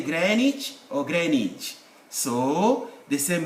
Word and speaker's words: Greenwich: is silent it's not green witch there's no green here it's granite either you say greenwich or greenwich so the same with americans there is no this is silent the w is silent another w case of